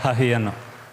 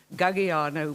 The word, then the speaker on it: Gagiano: There is an issue with that Afrikaans pronunciation, which would horrify any Corsican, which is the origin of this married surname of mine, which in any case is misspelt as I use it. It should be Gagiano with 3 G's.